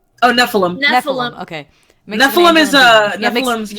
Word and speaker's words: Nephilim: Nephilim? Oh, Nephilim.